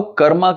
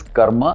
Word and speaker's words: karma: In Sanskrit, there is a halant ma and there is a full ma. So, it is karma.